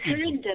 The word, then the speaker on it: Harinda: name correctly you are it's harinda but you call me Harry harinda Harry beautiful lovely